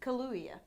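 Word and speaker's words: Kaluuya: going back to Daniel louia hi I am NOT you just just say it like there's to use Kalu you Kalulu yeah okay so I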